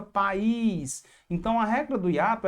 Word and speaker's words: país: Para não ficar pais, fica país.